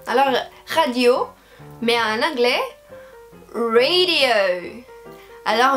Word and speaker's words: radio: Et là, on va aussi avoir la prononciation de toutes les voyelles, radio. Mais l'accent, c'est à la fin. Alors, en français, on a une tendance de faire ça, on met l'accent des mots à la fin.